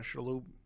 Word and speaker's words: Shalhoub: maisel it's been coming out which tony uh shalou how do you say his last name again tony shalhoub chalup is in it once again he's brilliant